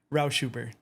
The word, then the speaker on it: Rauschuber: Dude, I always have to explain the last name, but um yeah, my last name, well, it's pronounced Roushuber. It's a German last name.